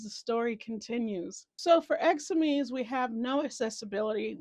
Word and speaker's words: exosome: I literally had to pause and like look up how to pronounce this word. It's exosome.